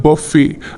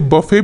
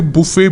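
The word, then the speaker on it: buffet: इसको क्या पढ़ते हैं इसकी स्पेलिंग है बी U double F ई टी ठीक है तो इसमें टी साइलेंट रहता है तो इसे बफे भी पढ़ते हैं और कई लोग इसे बुफे भी बोलते हैं दोनों ही सही है ज्यादा बफे चलता है मेरे मेरे प्रोनंसिएशन में बफे ज्यादा आता है बफे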